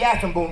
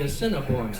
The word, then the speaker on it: Assiniboine: remember last year, we went up to the Assiniboine River, folks, and it was a great trip. Hold it. Where did you go? Up to the Assiniboine River. It was Wait a a great... minute. It's the Assiniboine, Killer.